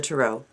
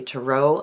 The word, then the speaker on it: tarot: of the tarot and you'll notice that i say tarot a lot of people say tarot the reason i say tarot is because it's french and they put the emphasis on the last syllable so anyway there's a